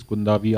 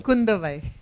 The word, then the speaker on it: Kundavai: So obviously you're playing Princess Kundavi. I hope I got the pronunciation right. Kundavai. Oh, Kundavai.